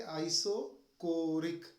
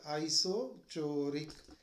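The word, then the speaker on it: isochoric: आइसोकोरिक process क्या pronounce करेंगे? आइसोकोरिक, नॉट आइसोचोरिक.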